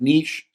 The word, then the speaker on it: niche: I always say niche, but I think it's pronounced niche.